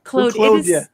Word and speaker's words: Claude: I know you guys call him Claude. Claude. I'm Canadian. I got to pronounce it the French way. Claude.